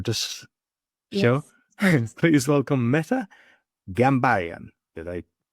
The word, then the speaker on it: Ghambaryan: Please welcome Meta Gambayan. Did I pronounce it properly?